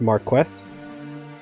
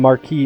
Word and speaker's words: Marquess: The information I found actually suggests that title is pronounced Marquess. I'm probably not going to even make the effort to try to pronounce that correctly, because I'm not 100% sure, and I know even if I make that effort, I will fail. So we're just going to keep calling him Marquis Elmdor.